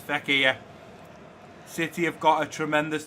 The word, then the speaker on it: Fekir: We've also got, Fekir, that's how you pronounce his name. I was going to say Fekir, it's Fekir.